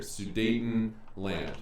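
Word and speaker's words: Sudetenland: Dayton Germans talking about this word right here sue Dayton land okay sue Dayton land that's how it's spelled and in this region here get us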